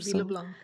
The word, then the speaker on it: LeBlanc: her name is LeBlanc yes did I pronounce it LeBlanc yes oh that was so LeBlanc so so